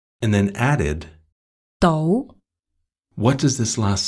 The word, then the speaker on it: 到: yeah, we say 到 So the sound changes in this case. Right. One more time, it's 到 not.